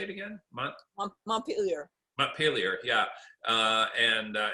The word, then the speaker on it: Montpelier: the capitol how do you say it again montpelier montpelier yeah uh and uh and you say